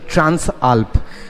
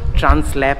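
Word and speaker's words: Transalp: পাশেই এখানে রয়েছে হচ্ছে ট্রান্স আলপ আমি একবার ভুল বলে ফেলেছিলাম ট্রান্সল্যাব ট্রান্সল্যাব বলে ফেলেছিলাম ওটা উচ্চারণ করতে প্রোনাউন্সিয়েট করতে আমার ভুল হয়েছিল আমি রেকটিফাই করে নিচ্ছি ট্রান্স আলপ বাইক এন্ড 750 সিসির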